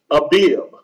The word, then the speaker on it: Abib: is the first month in the Hebrew is pronunciated Abib.